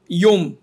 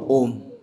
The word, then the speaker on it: ওম: আবার অনেক সময় বলার সময় না অনেকেরা নমো ইয়োম।